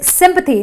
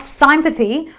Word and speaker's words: sympathy: on on either sides so it is sympathy not sympathy or anything else or sympathy but it is sympathy it's a short eh sympathy similarly another y at